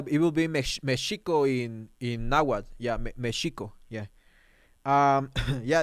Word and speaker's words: Nahuatl: The Spanish way, which is Nahuatl, where you pronounce the T, and the hard way, which is the Nahuatl way, which is you